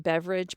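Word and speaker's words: Beveridge: r i d g I do believe it's pronounced beverage but now I want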